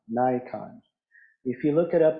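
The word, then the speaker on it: Naikan: that comes from Japanese Buddhism this is called Nikon Nikon if you look it up on Google you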